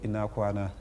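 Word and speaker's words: Ina kwana: Comment on dit bonjour? Bonjour, Inakwana. Inakwana. Bonjour. D'accord, Inakwana. J'espère que je le dis bien, hein, parce que Mounira arrive. C'est bien prononcé.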